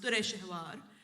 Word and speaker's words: Dureshawar: And in that language, you don't have U's and O's, so it was written in how it's pronounced, Dureshawar.